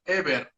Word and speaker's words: Heber: And what's the actual correct pronunciation of your name? It's actually Heber.